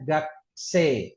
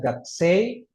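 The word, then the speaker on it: 学生: Contoh lain misalnya ini ya yang sudah ngfalin kosakata bab 2 ada kata ga ke se i ini dibacanya gak se artinya pelajar u-nya enggak dibaca ini ya terus ingat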